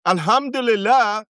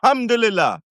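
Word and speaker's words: الحمد لله: Alhamdulillah, when you say it like this, Alhamdulillah, it's real thanks. Or Alhamdulillah, it's surprise, right? Or it's Alhamdulillah. It's total.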